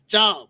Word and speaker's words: Jai: Jai Don't get it wrong. It's not Jai, it's Jai. Michael Jai White.